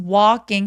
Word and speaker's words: walking: I was walking 할 때요 L 발음은 묵음이라서 더 길게 길게 길게 강조합니다.